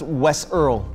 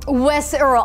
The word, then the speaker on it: Wes IRL: of Gang Beasts that Wes IRL said that his controller was not working. I believe it's pronounced Wes Earl. Wes Earl, I'm so sorry, yeah. Your Honor, you're absolutely correct. Wes Earl proceeded to throw said